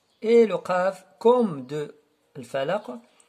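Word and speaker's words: الفلق: Et le qaf, comme de al-falaq, alors on fait une sorte de vibration et ce qu'on appelle al-qalqala.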